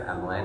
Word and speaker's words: Emlyn: Hi, my name is Emlyn. It rhymes with gremlin.